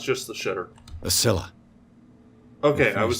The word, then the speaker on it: Scylla: A Scylla.